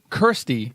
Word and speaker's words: Kirstie: Kirstie. Kirstie. Like, rhymes with thirsty, which I'm thirsty for.